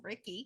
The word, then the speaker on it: Ricky: his name rhymes with Mickey. It's Ricky.